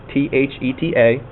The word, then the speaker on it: theta: The little circle with the horizontal line through it, theta, T-H-E-T-A. Okay, if you are unsure how to pronounce it, T-H-E-T-A, theta. I think you're saying theta.